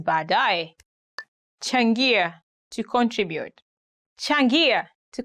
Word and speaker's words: baadaye: He had a very hard time saying baadaye. He used to say badeya, badeya, which is quite different. But now he made it up. He's okay. He says baadaye.